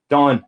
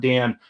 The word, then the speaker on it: Don: Don, not Dan. And, that every once in a while I get called Dan.